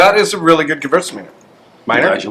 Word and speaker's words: Gewürztraminer: That is a really good Gewürztraminer. Minor? Glad you like it. How do you pronounce it? Gewürztraminer, because it's Gewürz and then Traminer. Yeah. Gewürztraminer.